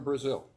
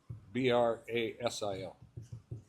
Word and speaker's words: Brasil: And she's from Brazil. Brazil. And Brazil, it's Brasil. I don't know why we're different. We say Braz, but it's really Brazil.